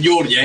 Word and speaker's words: Georgia: de Argentina que dicen Georgia No no es Georgia es Georgia así se pronuncia en el idioma original Georgia es un estado